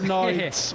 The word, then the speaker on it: Sniedze: give this Edgars, I'm going to let you pronounce his last name for me, Mike. Edgars Sniedze.